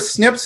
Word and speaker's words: SNP: SNP, if people talk about SNPs, it's pronounced SNPs, but it's S as in Sam, N as in Nancy, P as in Paul.